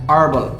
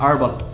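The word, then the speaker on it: herbal: অন্যদিকে বলছি a horse এরকম অনেকগুলো শব্দই রয়েছে যেগুলো শুরু হচ্ছে কনসোনেন্ট লেটার দিয়ে কিন্তু তার আগে যেহেতু আমরা ভাওয়েল সাউন্ড করছে তাই আমরা এন বসাই আমি এক্সাম্পলস বলি এগুলো আপনার চিটশিটেও রয়েছে বইও রয়েছে an hour an honest man অ্যান এয়ার অ্যান হার্বাল হার্বাল medicine বলে না সেক্ষেত্রে আমরা এন ব্যবহার করবো অ্যান হার্বাল হি ইজ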